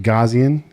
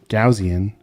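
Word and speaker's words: Gaussian: right for the chat is it gazan gausian gajian blur right here gazan blur how do you say it I've always said gazan really I have we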